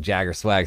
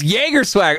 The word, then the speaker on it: Jager Swag: Temptation, I just think Jagger Swag sounds cooler. Jager Swag. It's Jager Swag. Okay, my bad. Like the drink.